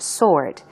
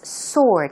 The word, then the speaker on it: sword: pronunciation for that is sword it's not sword s w r d but the W is not pronounced so it sounds like s o r d sword sword um swords